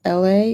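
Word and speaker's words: Elhae: Like, there's an Atlanta artist, his name is LA, and it's spelled E L H A E.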